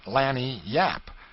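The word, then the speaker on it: lagniappe: limber expressive handy word lanap they pronounced it Lanny Yap it is Spanish so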